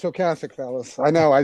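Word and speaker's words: Ocasek: Ro Cassich and it's Oassic, fellas.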